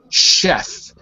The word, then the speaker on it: chef: to note that because in English we have a huge percentage of words that are derived directly from French that keep that sh sound so whenever you see a French word like the word Chef right we still use the sh sound even though we're speaking in English so here we would say sheay because it comes from French uh by the way